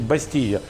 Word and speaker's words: бастийя: ребята там каких-то источниках пишут бастилия через да ну таких вот произношения букву л проглатывают да вообще например не поели а по ее да да не бастиле обасти е.п. мы можем изложение все-таки говорить бастия куриный пирог с миндалем